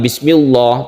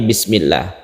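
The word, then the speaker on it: بسم الله: seperti itu bukan Allahumma kalau sebelumnya itu kasrah maka ditipiskan atau tarqiq seperti bismillah bukan bismillah tapi bismillah itu adalah hukum tafkhim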